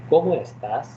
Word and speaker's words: ¿Cómo estás?: And there is an accent here also on the letter O and on the letter A. Okay. So you have to be like a little bit careful, means you have to say ¿Cómo estás?